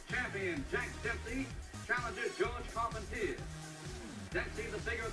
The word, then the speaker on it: Carpentier: jack dempsey advancing on george carpenter or call pontier if you prefer the french pronunciation the fight in 1921 between dempsey vs carpentier was the largest audience